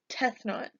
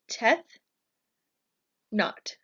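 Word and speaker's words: Tefnut: not least we have death not this is probably one of the harder ones to pronounce so we can break it down into death not death not death not is the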